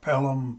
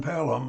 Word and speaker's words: Pellom: Pellom is spelled P as in Paul, E-L-L-O-M as in Michael. So Pellom Planetary Research.